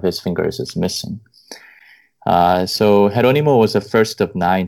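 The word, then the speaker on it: Jerónimo: And by the way, I used to pronounce his name Geronimo. I'm pronouncing it wrong throughout this discussion. No, you're not the only one. I've been pointed out multiple times by my Spanish friends, and then it took me, you know, months before I came to pronounce his name as Jeronimo.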